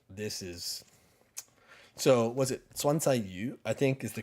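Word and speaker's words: 酸菜鱼: So was it swansayu? I think is the correct. I don't know. Swansayu, yeah. Yeah, that's how you pronounce it.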